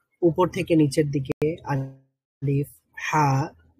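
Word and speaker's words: ح: মধ্য মানে হলকের মধ্যখান একটু স্ট্রেস দিতে হয় একটু চাপ দিতে হয় চাপ দিয়ে উচ্চারণ করতে হয় হা স্বাভাবিকভাবে আমরা যেভাবে বাংলায় হা বলি বা হ উচ্চারণ করি সেইভাবে নয় সেখান থেকে আরেকটু চাপ দিয়ে হা উচ্চারণ করতে হবে হা তো হা এর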